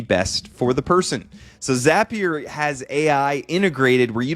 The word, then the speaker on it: Zapier: Then I used what's called Zapier or Zapier. You never know online how you're supposed to pronounce things. I think they're Zaps, so I'm going to say Zapier.